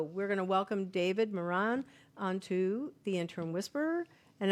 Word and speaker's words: Moran: I was just in Ireland and they told me that I was mispronouncing my last name because my last name is Irish. So they said it's Moran, excuse me. So it's but Moran. We pronounce it Moran.